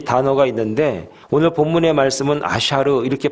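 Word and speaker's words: אשר: 여러분, 히브리 말로 복이라는 말이 여러 가지 뜻이 있고 여러 가지 단어가 있는데 오늘 본문의 말씀은 아샤르 이렇게 발음을 합니다.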